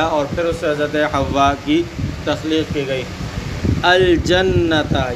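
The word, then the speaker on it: حواء: بیان فرمایا کہ یہ حوا الف ممدودہ کے ساتھ ہے، حوا کے تلفظ کو بیان فرمایا کہ یہ الف ممدودہ کے ساتھ ہے۔ وَكَانَ خَلَقَهَا مِنْ ضِلْعِهِ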